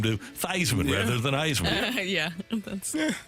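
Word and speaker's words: Theismann: do a Heisman campaign and change the pronunciation pronunciation of his name to Theisman rather than Iceman yeah that's interesting same placement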